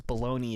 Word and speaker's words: bologna: who so uh legitimately don't know what how to pronounce bologna which is fair because baloney is spelled stupid